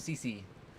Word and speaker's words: Cece: The cat's name is Cece, spelled with two C's. So just like, cubic centimeters, Cece.